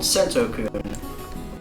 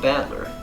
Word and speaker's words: Battler: right the first time i usually get called sentoku which is config did not mean to go